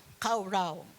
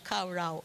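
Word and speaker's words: קָרָא: Yung call po in Hebrew is kara o kauraw. Kauraw. No, yan ang pronunciation niya, kauraw.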